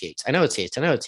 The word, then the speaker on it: Yeats: wrong, because I'm like, I know it's Yates. Yeah, but no, you said it incorrectly. No, it was the audiobook. Yeats was the audiobook, Yeats. Yeah. Right. it's spelled out that way in the book. It's Yeets when he's saying it wrong.